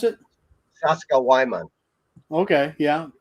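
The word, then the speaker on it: Sacsayhuamán: guide uh say uh if it helps you remember the name of that town uh you an American might pronounce that sexy woman what you just said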